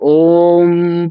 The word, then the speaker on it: ओम: हैं तो जब ओम पढ़ेंगे तो अंत में उनके दोनों होठ आपस में मिलने चाहिए और उनको मिला करके म का उच्चारण उनको करना चाहिए।